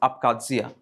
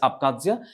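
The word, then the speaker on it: Abkhazia: the left hand side you have akadzia it's pronounced as akadzia right it's akadzia it borders black sea it borders black sea and This issue was in the year 2008.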